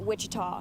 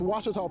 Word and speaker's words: Ouachita: Back in Texas, everybody pronounces it Wichita, but really, it's Ouachita. Washita. Washita. How would you pronounce it? Washita. Ouachita. It's Ouachita Baptist University. Get it right. It's Washita, people.